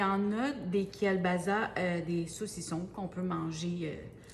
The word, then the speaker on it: kielbasa: Ça se prononce kielbasa, OK? Ça se prononce juste comme avec un S, puis bon.